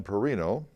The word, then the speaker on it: Perrino: The Publicity Committee, the co-chairs of the Publicity Committee, Johanna Perrino, and that's spelled P-E-R-R-I-N-O because I'm Carrino, C-A-R-R-I-N-O.